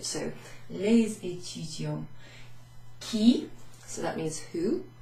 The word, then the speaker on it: les étudiants: which is an E, we pronounce the S at the end of the previous or the preceding word. So les étudiants.